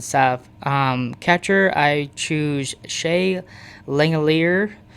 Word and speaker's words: Langeliers: Um, catcher I choose Shea Langeliers, is how you say it and stuff.